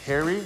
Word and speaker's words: Pherry: It's actually pronounced Harry, Taylor Harry. The P is silent.